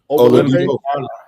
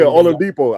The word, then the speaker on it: Oladipo: Oladipo. Yeah, Oladipo.